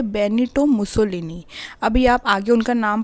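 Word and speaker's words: Benito Mussolini: सो Italy में ये फासिज़म आई थी और उसको कौन लेके आए थे, इसको लेके आए थे बेनिटो मुसोलिनी।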